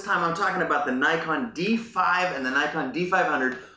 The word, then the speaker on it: Nikon: way I like it Nikon Nikon sorry Nikon which is the proper way of pronouncing it we in the US